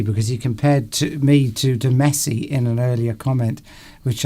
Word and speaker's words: Messi: Messy is pronounced exactly the same as, is it Messi?